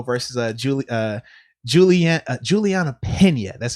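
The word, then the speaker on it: Julianna Peña: fighting as well versus julie uh julian uh juliana pena that's how you say her name but yeah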